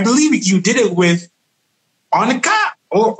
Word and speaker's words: Onca: and so I believe you did it with Onca or O-N-C-A.